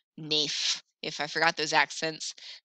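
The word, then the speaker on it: naïf: Remember, the tréma separates two sounds, so it makes it a-i, aif, naif, instead of a, naif.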